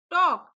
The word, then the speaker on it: talk: टॉक। TALK, टॉक। Friends, इसको टॉल्क नहीं पढ़ते, टॉक पढ़ते हैं।